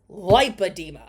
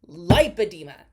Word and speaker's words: lipedema: I will die on this hill it is lipedema Google it right now how to pronounce liida like spell it Li IP you know the rest of it it is pronounced lipedema anyway uh you also drank a [ __